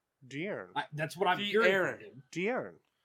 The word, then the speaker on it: De'Aaron: No, it's not Dion. De'Aaron.